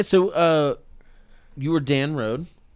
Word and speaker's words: Rohde: yeah yeah yeah so uh you were dan rhode right is that how you say how do you say your last name cody rhodey yeah dan rhodey okay that's good for me to know because